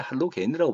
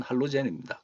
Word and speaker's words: 할로젠: 옛날에 할로겐이라고 발음했는데 그건 이제 독일어식 발음이고 영어식 발음은 할로젠입니다. 그래서 요즘은 이제 영어식 발음을 따라서 할로젠족 이렇게 부릅니다.